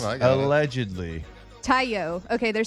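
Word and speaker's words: Taillon: Tayo. Okay, they're saying his Jameson's last name is pronounced Tayo.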